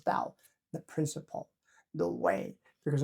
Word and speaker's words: 道: Zǐ), Number one is 道(dào), or Tao in the old translation. In contemporary usage, it is transliterated as Dao, "the Principle."